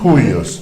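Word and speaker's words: υἱός: Juyos.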